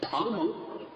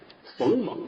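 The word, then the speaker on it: 逄蒙: Many books and many people pronounce these two characters as Feng Meng, which is wrong. This character does look like Feng , but the bottom is short . In this surname, it is pronounced Pang.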